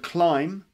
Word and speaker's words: climb: nearly at the end it's the word climb which also has a silent beyond the end climb like climb like this